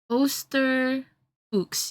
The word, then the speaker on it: Osterfuchs: I'm gonna see the pronunciation here. Osterfuchs.